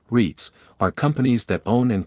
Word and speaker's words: REITs: Real estate investment trusts, or REITs, pronounced REITs, are companies that own and collect rent from commercial and residential properties.